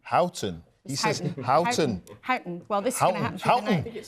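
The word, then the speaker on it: Houghton: Peter melson just picked me up on my pronunciation of hooton hton he sayon well this is happen spring exactly Chris I think it's hton you thank you thank you the only the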